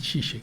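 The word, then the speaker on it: Žižek: Se posicionan los filósofos, nuevos filósofos, que ya no son ya no son comunistas, como Zizek, le dicen Zizek, se escribe Zizek.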